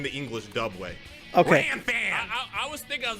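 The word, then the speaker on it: Ranfan: In the English dub, they said Ron Fon.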